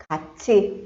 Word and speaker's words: 같이: It is used to make a suggestion and is often used with 같이. How do we pronounce this?